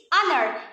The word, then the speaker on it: honor: into our number six honor it is similar to the previous word which is pronounced as honor instead of honor number seven stomach because